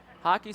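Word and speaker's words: Haake: Hockey spelled H-A-A-K-E. Hickey H-I-C-K-E-Y. So hockey not spelled like hockey puck. It's spelled completely different. Just pronounced that way.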